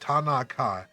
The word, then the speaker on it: Tanakh: So, okay, it's pronounced ta, na, ka, which is the Torah, meaning basically Bible, and then the Hebrew letter indicating prophets, and so it is, the Tanakh is the writing of the prophets.